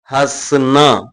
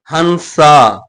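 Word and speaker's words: हँसना: சிரிப்பது ஹஸ்னா, ஹஸ்னா இப்படிதான் ப்ரொனவுன்ஸ் பண்ணணும். நடுவுல இருக்க என் சைலண்ட் லெட்டர், ஹன்சா, ஹன்சா இப்படிதான் பல பேர் ப்ரொனவுன்ஸ் பண்றீங்க.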